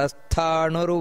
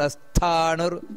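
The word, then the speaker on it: ಸ್ಥಾಣುರ್: ಬರಬೇಕು ನಂತರ ಅಮೃತ ಶಾಶ್ವತ ಸ್ಥಾನುರ್ ಸ್ಥಾ ಮಹಾಪ್ರಾಣ ಇದೆ ಸ್ಥಾನುರ್ ವರಾರೋಹೋ ಮಹಾತಪಾಹ ಅಲ್ಲಿ ಕೂಡ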